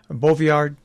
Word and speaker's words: Boviard: and uh and Jeremy uh Jeremy am I pronouncing your last name right uh but by saying beauviard that is absolutely correct yes I just I